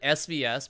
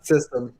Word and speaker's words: svstem: subwoofer uh company and i pronounce it tam so it's gonna be like a two-part but but no what do you want to be uh system only system the reason why i